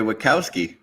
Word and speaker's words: Wachowski: They are American, so they say Wachowski.